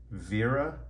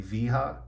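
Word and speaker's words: Wera: T8 which is here these bits are by Vera which is spelled w-e-r-a I also recommend weha or I guess it would be viha uh these are all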